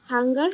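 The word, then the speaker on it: Hunger: ইশ বাইল ইশ হাঙ্গার হাবে হুঙ্গা হুঙ্গা উচ্চারণটা হচ্ছে হুঙ্গা ও স্যার হুঙ্গার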